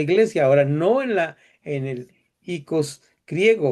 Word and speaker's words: oikos: Hay todos unos estudios académicos acerca de cómo funcionaba este icos o oikos, como se escribe con las dos letras juntas, este icos griego que tenía esta función de ir a traer.